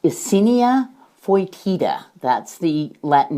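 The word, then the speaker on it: Eisenia fetida: your vermicomposting are red wiggler worms that is pronounced icinia foitida that's the latin name for these worms do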